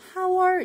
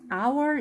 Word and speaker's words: hour: 예를 들면 첫 소리가 여기 H가 있는데도 H가 발음이 되지 않는 경우가 있어요. 뭐냐면 요거 볼게. hour. hour 같은 경우는 이거는 시라는 뜻인데요. 시간. 그런데 얘는 H가 있어서 hour 이렇게 하는 게 아니라 얘는 묵음이야, 얘들아. 모양은 있지만 소리가 없고요. hour 이렇게 발음을 해.